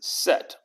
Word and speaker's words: Set: and disorder or chaos is set or seth but normally they pronounce it set and of course the